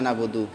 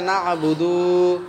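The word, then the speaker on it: نعبد: কাইও টান করিও না হ্যাঁ কেউ টান করিও না বুদু ইয়্যাকা না'বুদু কেউ কেউ এরম ভাই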